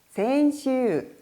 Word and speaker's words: 先週: 센슈, 센슈. 이렇게 뒷부분에 센슈라고 총 4박자로 읽어야 하는 단어가 됩니다.